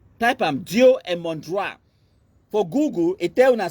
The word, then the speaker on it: Dieu et mon droit: It's a French. It's pronounced Dieu et mon droit. Now old French, where it means wetin God and my right.